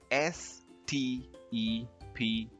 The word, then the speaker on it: steppe: Next, this word, spelled S-T-E-P-P-E, is pronounced as steppe. Steppe.